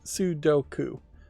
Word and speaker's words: Sudoku: I still feel that puzzle number 1 of the free puzzle games, being a Thermo Sudoku, and I'm mispronouncing this still, it's Sudoku.